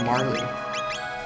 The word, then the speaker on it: Marle: I was watching something I heard someone call her Marley so I was that's like the correct pronunciation of her name and you guys finished